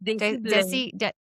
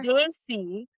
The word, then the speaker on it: Desi: Desi desi bling. Do you guys have it over there? Daisy. Like pronounce it as D A Y Y Y Y Y